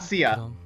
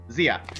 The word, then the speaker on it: Zia: No, not Sia. Zia. Oh, Zia, yeah. I mean, Zia got really crappy masteries, too. Actually, Zia actually told me how she wanted her name pronounced. So that's how I know. Yeah? It's not the Chinese way. Is it Zia? It's like with a Z.